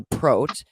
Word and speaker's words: prot: in the Lira constellation Pro not capitalize and pronounced with the long o rhyming with boat so prot is committed to the